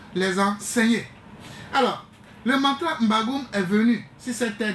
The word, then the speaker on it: M'Bagu'um: allez mieux comprendre les choses quand vous prenez mbagou qui s'écrit comme suit m B a g u